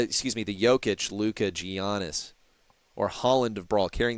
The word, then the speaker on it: Giannis: Oh, it's Giannis.